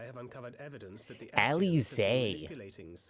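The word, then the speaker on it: Alisaie: It should come as no surprise, but Alize and I have uncovered evidence that the Alize. I've been pronouncing that wrong. I thought it was Alice.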